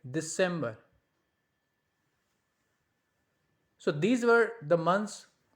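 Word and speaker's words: Dezember: That sounds like December. Now Z is pronounced like S, so we'll say like December.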